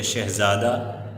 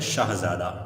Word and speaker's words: شاہزادہ: ہم کہتے ہیں شہزادہ، جبکہ شہزادہ کہنا غلط تلفظ ہے، درست تلفظ ہے شاہزادہ۔ ٹھیک ہے بیٹا، شاہ